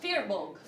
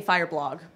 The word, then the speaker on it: Firbolg: How would you pronounce that Firbolg. first one? Firbolg. Fearbolg. I kept saying Fireblog. I know that's not right.